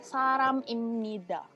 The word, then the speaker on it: 사람입니다: Sebenarnya ini kan B. Tapi aku tadi kalau misalnya nyebut ini saram입니다. Nggak ada B-nya kan? Nggak ada B-nya kan? Karena ini akhirnya bacanya diganti jadi M. Kalau ketemu sama huruf N.